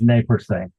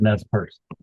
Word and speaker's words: Nez Perce: it's in French, it is Nez Perce, but Americans pronounce it Nez Perce.